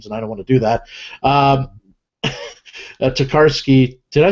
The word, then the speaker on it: Tokarski: want to do that, Tokarski. Did I say that right, Tokarski? Yeah. Oh, look at that. I said it right. Wow. Look at that. Oh, no, okay. It's like Koharski with a K.